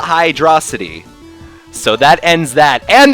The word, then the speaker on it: Hydrocity: first played Sonic 3 I called it Hydro City and then I my dad was watching me play or something and I'm like oh Dad look at this level Hydro City and he's like it's hydrosity and I would pronounce